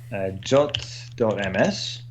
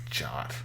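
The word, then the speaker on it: JWT: Somebody said that it's in the official spec that you should pronounce it as. Well, it's a suggestion. Until it says should, I'm not pronouncing it jot.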